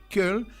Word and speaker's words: Köln: Eso lo aprendí a pronunciar. Köln, una ciudad espectacular.